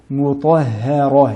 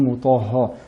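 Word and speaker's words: مطهرة: Mutahharah, et non mutahha. Mutahharah.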